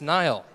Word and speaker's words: Niall: It's pronounced Niall. It's a cool name. We're going to have Niall talk to us about user-centered API versioning.